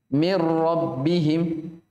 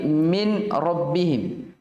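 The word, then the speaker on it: مِنْ رَبِّهِمْ: trit nih Bagaimana bacanya langsung langsung masuk dirol mirrobbihim dia Jadi bukan lagi min rabbihim bukan Min rabbihim tapi apa mirror jadi seakan non disitu memang apa tidak dibaca jalan saya seakan Nun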